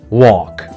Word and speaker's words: walk: Walk and hill. L after A is a silent L, means L has no sound.